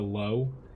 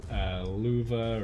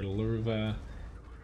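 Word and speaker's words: Löwe: tank like the low, I said the low for so many years that it's just ingrained in my head. I know it's pronounced like luva or lurva, whatever. I don't even care at this point. I pronounce it wrong.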